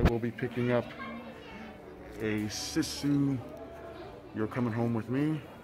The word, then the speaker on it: Sisu: I found out that it is pronounced Sisu and not Sisu, but you can see kind of a smoky shadow of her there.